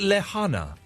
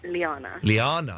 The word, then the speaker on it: Liana: Is that how I pronounce your name, or is it Lehana? It's Liana. Liana.